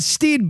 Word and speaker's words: Stede: I think all the jokes fail if you do it Stede, though. We're going to be talking about Stede Bonnet, the gentleman pirate. Okay, and that is how we are going to pronounce it.